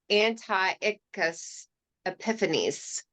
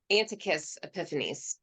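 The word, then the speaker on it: Antiochus Epiphanes: there's a note number four his name is pronounced anti-us epiphanies and an antic anti-us and anti-us epiphanies anticus anticus epiphanies all right as we've already seen and this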